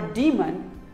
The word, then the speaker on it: demon: It is not daemon or demon, it is demon, demon. Here are some more words that we pronounce wrong.